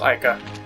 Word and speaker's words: Aika: It's probably supposed to be pronounced Aika.